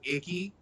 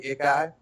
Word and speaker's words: Ikai: You can honestly pronounce it Icky, but it's actually Ikai.